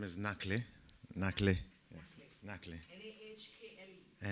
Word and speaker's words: Nakhle: So my name is Nakhle. Nakhle. Yes. Nakhle. N-A-H-K-L-E. N-A-K-H-L-E. But you pronounced it very well, because the real pronunciation is Nakhle.